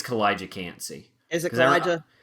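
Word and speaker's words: Kalijah Kancey: I think so because I remember that's how they announced it on the draft, and I assume they Okay, told Roger Goodell how to say it right.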